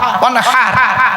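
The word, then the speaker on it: وانحر: ছোট্ট একটি সূরা আছে কোরআনের, ইন্না আতাইনাকাল কাউসার ফাসাল্লি লিরাব্বিকা ওয়ানহার, ওয়ানহার এই গলার ভেতর থেকে এটা উচ্চারণ করবে, ফাসাল্লি লিরাব্বিকা ওয়ানহার।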